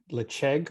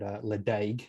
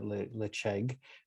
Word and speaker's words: Ledaig: Let's move across to Ledaig, or as I've heard pronounced many times, and I think I've also done it, Ledaig, as our Aussie accent likes to call it.